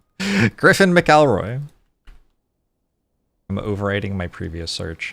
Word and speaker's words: McElroy: It's pronounced McElroy. At least that's how he and his whole family pronounce it.